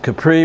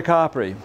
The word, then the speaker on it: Capri: Capri Americans pronounce it Capri but in Italy a is usually ah and you usually make a word longer rather than louder to emphasize it and you got to go to coppery so one morning I